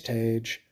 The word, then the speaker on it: Tage: going to say is your name is Tage and I'm sure people make jokes about rage how it rhymes with rage but I'm going to